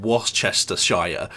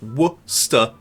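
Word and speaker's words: Worcestershire: That's that's what you guys are doing by calling it Waschester Shire sauce. You're you're doing the exact same thing. It's wor. It's not even hard to say. Worsha.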